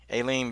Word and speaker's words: Aleen: sports show live okay guys got two-time Olympian Aileen Bailey with me right now and I'm pronouncing your name right correct yes okay I